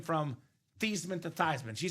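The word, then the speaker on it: Theismann: mad that Joe changed his last name from Thesman to Thyman?" She said, "Nope. I'm okay with it because technically it's pronounced Tyman."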